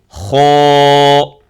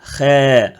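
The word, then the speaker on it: خاء: La lettre kho, donc c'est la première lettre grave, emphatique. C'est pour ça qu'on l'a mis en bleu ici, pour vous montrer, ou tirer votre attention, de le bien prononcer grave. Kho. Et non pas khe. Khe, non. C'est kho.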